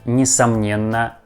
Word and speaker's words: несомненно: You see that word несомненно has a first letter E, but we pronounce this letter like E. Not like несомненно, we pronounce like несомненно, несомненно, if we say it more fast.